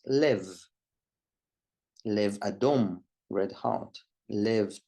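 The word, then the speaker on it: לב: In this case, it doesn't have a dagesh, a dot, and the word is pronounced lev.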